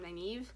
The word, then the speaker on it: Nynaeve: So again, Nynaeve, actually, that's how you say her name, Nynaeve.